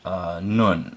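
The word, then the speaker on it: נ: This letter form has the sound of N, as in now.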